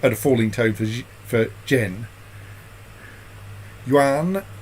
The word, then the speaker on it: Yuan: Yuan is one syllable.